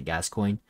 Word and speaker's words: Gascoigne: a game developed by james gascoigne i think that's how you pronounce it sorry if i pronounced it wrong but i pretty sure that's how you pronounce it gas coin okay but other than